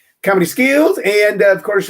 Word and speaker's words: Comedy Schools: that's how it sounds it is spelled the normal way s-c-h-o-o-l-s schools but we pronounce it skills comedy skills and of course right